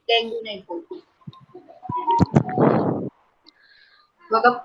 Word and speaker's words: dengue: The pronunciation इसका dengue होता है, dengue नहीं बोलते. So the pronunciation is dengue.